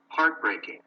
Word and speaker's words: heartbreaking: Which syllable is stressed in each one? 1. Heartbreaking. Heartbreaking. 2. Heartwarming. Heartwarming. 3. Uplifting. Uplifting. As you can see, so the stress is in the first syllable, no?